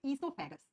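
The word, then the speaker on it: oesophagus: और इसी नली का दूसरा नाम होता है इससोफेगस। ओ से लिखते हैं लेकिन प्रोनाउंस करते है इसेगस।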